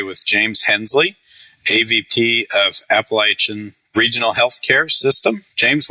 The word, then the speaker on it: Appalachian: necessarily IP related but I say it app but what's the right way to say that oh it's definitely appalachin so okay Appalachia that's